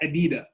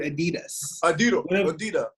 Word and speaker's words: adidas: of knowledge he's like oh who threw that adida he cannot even pronounce the word adidas one of the most